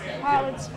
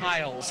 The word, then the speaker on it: Piles: Pilots Project. Piles, like piles of stuff.